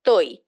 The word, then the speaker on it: Toi: name carried this appellation Toi. I've spelt it here TAI, but actually the pronunciation when you've seen it written in Bangla is Toi, TOI.